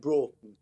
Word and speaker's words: Broughton: We pronounce it Broughton.